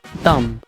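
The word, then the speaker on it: dumb: الكلمه سبعه اللي هي تم اللي كتعني غبي فيها بي فيفان ولكن ماكنطقوش كنقفوا فقط عند ام الكلمه الثامنه والاخيره اللي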